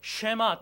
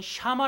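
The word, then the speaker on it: שמע: 열고 들으시길 바랍니다 들으라 는 히브리어로 쉐마 또는 샤마 라고 발음을 하는데 이 뜻이 경청 아다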